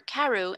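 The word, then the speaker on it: Crewe: the name madame pascal pronounced it as if it were karu instead of crew but that might be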